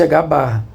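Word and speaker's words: ħ: Pronuncia-se H barra, que é simplesmente a constante de planque dividida por 2 pi.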